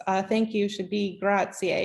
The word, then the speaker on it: grazie: writing here because uh thank you should be grazier it's spelled g-r-a-z-i-e um to say where is is